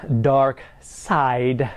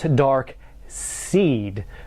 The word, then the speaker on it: Darkseid: Firstly, his name is pronounced Darkseid, not Darkseid, because Darkseid's probably something that might inspire a porno or something.